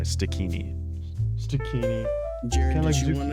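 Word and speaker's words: Stikini: Stinkini. I I kind of pronounced it. There's no N in the beginning. It's s t i k i n i. Stini.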